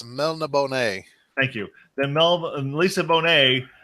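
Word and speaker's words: Melniboné: And I'll be honest with you, The Witcher is more separated from Elric of Melbonona. Red, I'll pronounce it for you. It's Melna Bonet.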